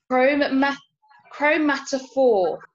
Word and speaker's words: chromatophore: And this is something called, I hope I pronounce this correctly, chromatophore.